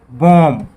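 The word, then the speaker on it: bomb: करते हैं सबसे पहले BOM बी, इसको बोला जाता है बॉम्ब। यहाँ पर बी साइलेंट है और बॉम्ब का अर्थ होता है बम।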